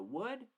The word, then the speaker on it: would: So the if and the would on opposite sides. Okay? And remember the pronunciation, wood, que es como madera, wood. Buena madera, good wood. Or la palabra huevo, huevo, would.